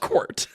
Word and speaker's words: Quirt: Yeah, it's Quart. I hate to say it. It is squirt, but with a Q.